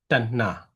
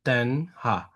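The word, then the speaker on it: taṇhā: T and this both alphabet will have to pronounce the same, yeah? Tanna, yeah? Tanna, not Tanha, yeah?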